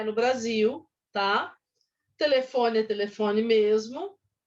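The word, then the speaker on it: Brazil: jeito que inglês então o Brasil por exemplo ele é escrito com z e a pronúncia não é Brasil como algumas pessoas falam e sim Brasil assim como é uma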